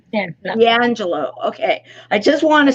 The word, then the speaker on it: D'Angelo: how do i say your last name correctly d'angelo d'angelo okay i just want to say it correctly